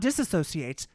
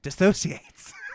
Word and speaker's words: dissociates: Not disassociates, dissociates.